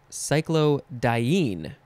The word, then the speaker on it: cyclodiene: intended it to be our last word is cyclodiene or cyclodiene emphasize the dye or the een it is spelled cycl